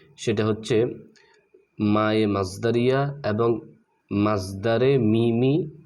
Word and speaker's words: مصدر ميمي: মাজদারে মিমি যেটাকে আমরা মিমে মাজদারে বলে বেশি চিনি মানে বা মিমে মাজদারে মিমে মাজদারি এরকম বললে বেশি চিনি তবে এটার সঠিক উচ্চারণ হচ্ছে মাজদারে মিমি মাজদারে মিমি এবং মায়ে মাজদারিয়া এই